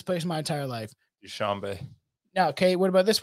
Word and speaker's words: Dushanbe: Pronounce this for me. Dan Shanaby. I've never heard of this place in my entire life. Dushanbe.